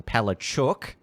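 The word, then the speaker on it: Palaszczuk: the queensland premier anastasia palestine who now a lot of people are now pronouncing pale chook using that uh that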